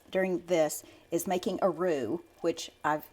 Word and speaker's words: roux: So what you're going to see at this process during this is making a roux, which I've said before, it's spelled R-O-U-X, and it's to make a paste or just a thick mixture.